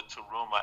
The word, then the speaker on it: Tarumah: Download the Taruma app. It's spelled TARUMAH.